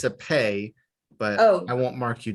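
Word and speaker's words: פ: pronounce it's pronounced yes it's pronounced like the english p but it's not a p it's a pay okay correct yes all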